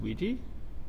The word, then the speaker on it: Ouija: It's pronounced Ouija? Yes. Why is it pronounced Ouija? I don't know.